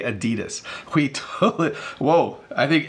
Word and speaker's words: adidas: three two one so this is pronounced differently in different parts of the world technically in North America we mispronounce it because we say adidas the proper pronunciation as